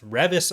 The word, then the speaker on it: Revis: the new book by beth revis i think is how you pronounce her last name yeah that's correct i'd been calling her revis before so that was incorrect uh we are talking about